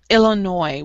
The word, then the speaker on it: Illinois: Illinois. We don't pronounce the S. Okay. Illinois.